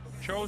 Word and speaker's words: Tso: Cho spelled TSO. TS in Chinese, they tell me is pronounced Ch.